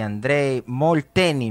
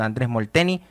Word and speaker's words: Andrés Molteni: el holandés a los argentinos Leo Mayer y André Molteni. ¿Me confirmas la pronunciación? Andrés Molteni en parciales de Sí.